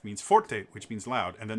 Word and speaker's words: forte: so fort it's spelt f-o-r-t-e and in italian uh that's pronounced forte and sorry it's music